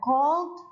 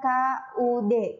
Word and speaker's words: could: sorry i couldn't gitu jadi cara baca Hut itu adalah God bukan call bukan Hulk jadi l-nya itu seperti tidak ada jadi bacanya kode seperti tulisan KUD COD Yes i cut